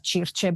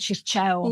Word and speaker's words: Circe: So I say it Circe, but Circe. But you know what, Demi, I have to say, like the way the ancient people must have pronounced it was probably the way Flavia pronounces it. Yeah, not Circe. Yeah, we for sure butchered that. No, I like Circe though.